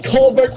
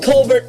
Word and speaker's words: Colbert: Don't get me wrong, Stephen Colbert is doing a good job. Oh, there's the evil cousin. Stephen Colbert is doing a good job.